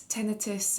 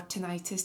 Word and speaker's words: tinnitus: It's tinnitus or tinnitus depending on how you pronounce it.